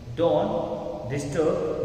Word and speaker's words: disturb: इसमें आर को प्रोनाउंस नहीं करते। अगर आप ऐसा बोल रहे हैं कि don't डिस्टर्ब me, don't डिस्टर्ब मी, तो रॉन्ग है। टर्ब आर नहीं आएगा, आप बोलेंगे don't disturb me, don't disturb me,